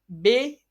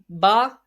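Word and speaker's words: ب: For example, don't pronounce them at all. Be, te, se, he, he, toy, loy. So it is according to the Urdu grammar. It is according to the Urdu grammar. So some Pakistani people read as, instead pronounce them in the following way: ba, ta, sa, ha, ho, tho, wo. So it is according to the Arabic grammar.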